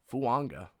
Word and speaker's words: Fuaga: Then the Saints draft Taliese Fuaga. He said that's how you want it pronounced, in case you were unaware. He wants a silent N after the first A in his last name. So Taliese Fuaga from Oregon State.